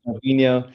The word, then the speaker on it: Binho: Binho, it's like the Portuguese pronunciation. Inho in Portuguese means like little.